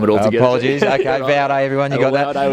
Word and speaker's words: Vaude: I actually got a punch in the stomach from the owner, because it's actually his initials pronounced in German is how they came up with the name.